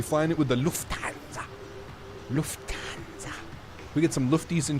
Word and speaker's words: Lufthansa: Lufthansa.